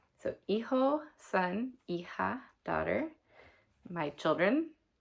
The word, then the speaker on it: hijo: That's h i j o because the h is silent and the j makes a h sound. So eho son, e-ha daughter.